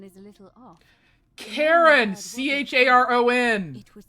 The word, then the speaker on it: Charon: Only your pronunciation is a little off. Karen! C-H-A-R-O-N! It was C-H-A-R-O-N.